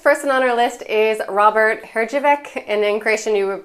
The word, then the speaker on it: Herjavec: Okay, next person on our list is Robert Hrđevec, and in Croatian you would pronounce that Herjevec.